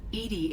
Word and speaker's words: EDI: why are you named edie edie is the phonetic pronunciation of edi that is an acronym for enhanced defense intelligence how are you getting